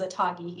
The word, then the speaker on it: ATAGI: on immunization so long long name but it's pronounced or it's uh short version is a toggy easier to say they recommend waiting to get